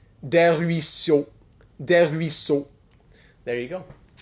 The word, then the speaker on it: Des Ruisseaux: Des Ruisseaux. Des Ruisseaux. There you go. You would think it sounds a lot longer.